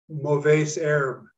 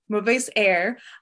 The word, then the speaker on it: Mauvaises Herbes: Will you pronounce that for me? Mauvaises Herbes. Mauvaises Herbes, a bilingual translation.